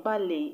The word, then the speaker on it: ballet: The T in ballet is silent, just like the T in chalet. So the last syllables are pronounced A. A. Ballet. Chalet. Unlike the rest, where their T's are pronounced.